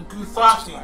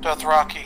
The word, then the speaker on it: Dothraki: The Guthraki, that's it. I think I pronounced it right. Dothraki. Dothraki, that's it.